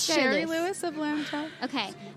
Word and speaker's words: Shari Lewis: It's Sherry Sherry Lewis.